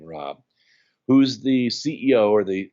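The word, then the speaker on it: Raab: I'm standing there with Dr Fred Rob spelled r aab his pronounces his last name Rob who's the CEO or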